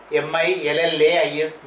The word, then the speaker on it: Millais: Hunt or William Holman Hunt, and John Millais, Millais, M-I-L-L-A-I-S, Millais, it is pronounced as Millais, John Everett Millais.